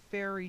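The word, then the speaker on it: faerie: which is a shamanic practice fair and it's fairy seership and it's spelled f AE right F AE r i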